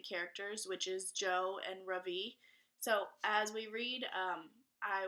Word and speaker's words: Ravi: laugh too my first name is Ravi it's pronounced Ravi with a soft brush and a strong V in Sanskrit it means the Sun in America people call me Ravi with the stress on the first syllable that